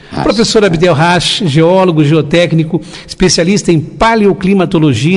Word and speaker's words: Abdel Hach: É Rash, é isso? Rash, né? Sim, Professor Abdel Rash, geólogo, geotécnico, especialista em